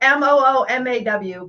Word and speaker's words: Muma: My name is Muma. So yeah, so phonetically it's like Moomaw, but yeah, we like to spell it different.